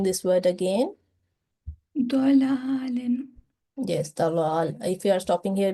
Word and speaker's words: ضلال: Yes, it is a thick letter, and you were pronouncing it not in with fuller mouth or in thick sound. So try pronouncing this word again. ضلال. Yes, dalal.